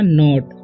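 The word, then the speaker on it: knot: का उच्चारण होता है के एन ओटी ठीक है तो यहां पर के का उच्चारण नहीं होगा यहां पर होगा नॉट ओके उसी तरीके से डी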